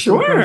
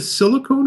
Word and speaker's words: silicone: The Silicone Sure. Soul? Yeah, yeah, yeah, Okay. yeah. So, do you pronounce it silicone or silicon? Silicone. Okay. This is silicone because the dolls are made of silicone.